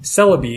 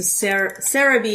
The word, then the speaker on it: Celebi: Celebi is the English name. Oh, okay. So Cerebi is the... Is the website. Or the way it's pronounced, sort of, in Japanese.